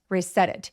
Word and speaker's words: reset: Reset it 근데 reset은 뒤에 목적어가 반드시 와야 돼서 is을 갖다 집어 넣으는데 앞에 있는 passw워드를 말하는 거예요. 자, reset it 할 때 첫 번째 reset의 t가 굴러가는 느낌이 들죠.